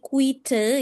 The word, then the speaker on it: quite: Kalau quid itu kan ee tulisannya ee tanpa e di belakang. Tanpa E di belakang. Kalau ada di ee kalau ada E di belakang dibacanya quite artinya sangat artinya cukup artinya cukup gitu.